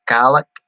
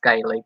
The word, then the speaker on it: Gaelic: You mean the Gaelic? Oh, it's definitely not pronounced gay league, that's for sure, but I think I kind of know what you're talking about there.